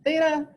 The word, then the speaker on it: theta: yeah it looks like that and it is pronounced theta and you know in when we do regular